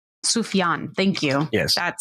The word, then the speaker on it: Sufjan: sake of pronoun uh so you can know the pronunciation it's sufjan sufian thank you yes that